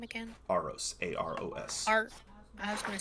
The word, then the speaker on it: Aros: right uh Sophia you your name I am arose and I am the leader of this Insurgency you are no Inquisitor so I asked again who are you oh how do you pronounce his name again arose a-r-o-s art I was gonna say a rose